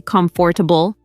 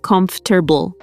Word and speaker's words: comfortable: Right, people often say comfortable, but natives usually say comfortable. Yeah, it's one of those words where we kind of swallow some sounds, comfortable.